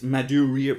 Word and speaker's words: Madureira: It's Madureira, but there's an extra consonant, whatever.